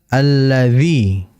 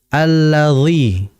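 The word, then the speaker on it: الذي: Alladzi. Perhatikan pada huruf dha, karena huruf dha ini biasanya terjadi di antara saudara kita membacanya seakan-akan seperti dha yang kasroh. Alladzi. Nah, yang betul adalah alladzi.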